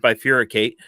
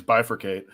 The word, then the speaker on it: bifurcate: look up the word by furiate um to understand what it meant you didn't even pronounce it it's bifurcate ever but you know here